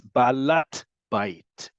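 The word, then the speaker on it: בעלת בית: And because this is smichut or compound nouns, the hey at the beginning of the first word turns into a taf. So it's ba'alat bait.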